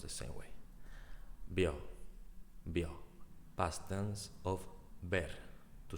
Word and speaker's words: vio: me to pronounce because in Spanish B and V is the same pronunciation.